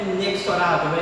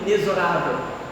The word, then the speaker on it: inexorável: Mas, meus amados irmãos, fator inexorável, a pronúncia correta no nosso português, não é inexorável, é inexorável.